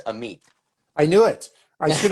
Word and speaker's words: Amit: The correct pronunciation is Amit.